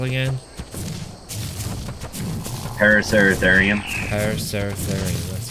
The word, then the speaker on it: Paraceratherium: Paraceratherium. That's how you pronounce it. Alright. Yep. Sing it. Paraceratherium. Yeah, it's just like the Metallica song. Instead of Welcome Home Sanitarium, it's Paraceratherium.